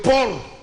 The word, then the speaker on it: porc: de mouton et de porc n'échappe pas à la hausse les enfants éviter de te prononcer le C il ne se prononce pas il est muet la pénurie de sucre